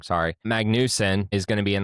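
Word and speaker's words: Magnussen: Um, Kevin Mesen, Magnus. Magnus. Oh, I t I spelled his name wrong. Sorry. Magnusen is going to be in the Project 91 car uh in San Diego.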